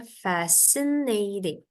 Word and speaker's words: fascinating: Nora That's fascinating ya Ini bacanya fascinating fascinating Jadi t-nya bukan kayak t Indonesia tapi agak D gitu bunyinya fascinating artinya adalah very